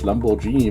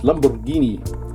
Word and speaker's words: Lamborghini: still in Italy Lamborghini some people are mispronouncing it as Lamborghini but it's Lamborghini um this is oh